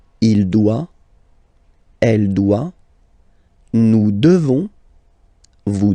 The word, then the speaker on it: devons: Nous devons. Okay, classic ending ONS for nous. Okay, you just pronounce this on, on, this nasal. Okay, and then the S, final S is not pronounced.